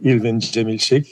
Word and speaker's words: Irvin Cemil Schick: So my name is Irvin, or Irvin Cemil Schick in Turkish pronunciation.